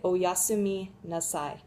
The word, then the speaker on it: oyasumi nasai: it's an honorific so you'd say oh yasumi then at the end you add nassai which is an imperative okay so you're telling someone to take a rest so you'd say oyasumi nasai okay let's give it a